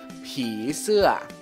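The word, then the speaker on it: ผีเสื้อ: Ini adalah popeng, dengan suara i, jadi siang catawa. Dibacanya pi. Sampingnya ada so se, dengan suara e, sama mai to, ya. Jadinya siang to, se, jadi gabungin. Pi se, pi se.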